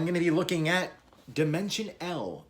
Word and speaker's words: Dimension L: to be looking at dimension l or dimensional i believe that's the way it's supposed to be pronounced uh by magikats so